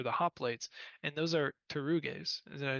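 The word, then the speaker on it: pteruges: Yeah, Which, yeah, or I think technically now my Greek pronunciation is not great. I think you actually would say pter. I think there is essentially a vocalization of the P, but anyways, that's all nerd stuff.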